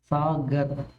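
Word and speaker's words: सागर: சாகர் சாகர் அப்படின்னா கடல் சாகர் அந்த கரை வந்து காந்தி அப்படின்னு சொல்லும்போது உச்சரிப்போம் அந்த மாதிரி உச்சரிப்போம் சாகர் ஏன் அப்படின்னா சகர் அப்படிங்கிற வார்த்தையும் இருக்கு ஹிந்தில சோ சாகர் அப்படின்னா கடல்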